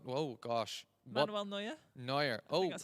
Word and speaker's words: Neuer: Lionel Messi, I don't even know I'm pronouncing that right. I think Lionel Messi. Manuel, oh gosh. What? Manuel Neuer. Neuer.